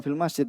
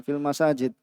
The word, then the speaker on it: masajid: akifuna fil masajid ya bukan fil masjid ya tadi Mungkin ayatnya bacanya fil masajid ya fil masajid maka